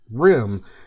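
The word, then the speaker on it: RIMM: RDRAM is most commonly referred to as RIM. Now, it doesn't stand for anything, it just happened to rhyme with SIM and DIMM.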